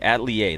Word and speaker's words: atelier: It's atelier. Okay, atelier. The R is silent.